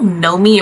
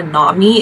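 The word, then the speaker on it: Nomi: the book is named okay it's either n me or Nam me it's spelled n o Mi I I think it's Nami Nami nickel is her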